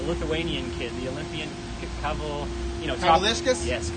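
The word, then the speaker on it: Kavaliauskas: I don't even know how to pronounce the Lithuanian kid, the Olympian Kaval, Kavalishkas? Yes, The Kavalishkas.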